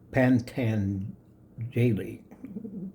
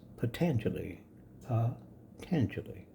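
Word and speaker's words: Patañjali: It looks like pant jelly. Pantan jelly if you do it phonetically, but it's potentially uh tanguli. The first syllable soft tan chili. Tan has the accent gra as they say in the French and chili. It's soft.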